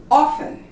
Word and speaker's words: often: but there's many more as in often you don't pronounce the T gourmet wristbands ballet many